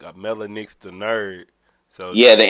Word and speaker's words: Mellah Nix: That's how you say your name? I said it right? Mellah. Yeah, it's Mellah Nix.